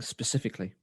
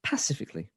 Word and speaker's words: specifically: Emma then continues as people mispronouncing specifically as pacifically well that's not even a thing and that's actually a c well it's not Pacific it's specific or specifically not Pacific or pacifically because I'm not even